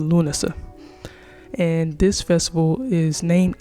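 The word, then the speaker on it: Lughnasadh: So, the one that I'm going to cover is called Lunasa. Lunasa. I'm sorry, I had to I had the pronunciation written out. So, sorry. It's called Lunasa.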